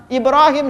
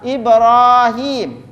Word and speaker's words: Ibrahim: Kalau udah masuk di bab selawat, Pak, Ibrahim selalu bacanya pendek. Ibrahim. Karena memang Indonesia tulisannya Ibrahim. Tapi kalau bahasa Arab, Ibrahim. Himnya itu dipanjangin. Ada ya sebelum mim.